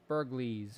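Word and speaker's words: Bergliez: House Burlees, or Burglees, or however that's pronounced. I'm pronouncing it Burlees, like the G is supposed to be silent.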